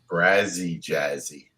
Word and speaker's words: Brazzy Jazzy: steve how you doing you almost got that name right what how how do you say it brazzy jazzy brazzy jazzy it's rhythmic baby it's rhythm you should be singing it all right so tell